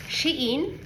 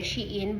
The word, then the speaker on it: Shein: So, ito pala yung binili ko sa Shein, or yun ang alam kong pronunciation kasi Shein, but ang correct yata na pronunciation nito is Shine.